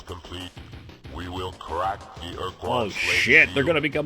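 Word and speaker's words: Ur-Quan: After we, Chenjesu and Mernherm, were defeated by the Urquan. There you go. There's the pronunciation.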